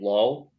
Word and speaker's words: Lowell: think it's pronounced or it's spelled like Lowell, but I think they pronounce it Low or something like that.